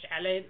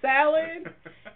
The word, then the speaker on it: salad: And I can't stand that because it's not a shallot, it's a salad.